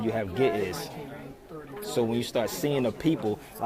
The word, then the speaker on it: Ge'ez: Ge'ez. They say you got to pronounce it Ge'ez.